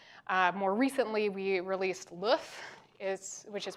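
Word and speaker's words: LOEUF: more recently we released LOF is which is pronounced like the egg in French uh not my call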